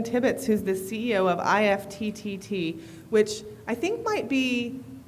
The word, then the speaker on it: IFTTT: We pronounce it IFT. We, of course, put 3 T's in the name, so it's okay.